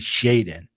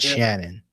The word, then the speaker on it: Shaden: Well, we know the last name was Sharp, but I think um someone said that that it should be Shaden, not Shannon.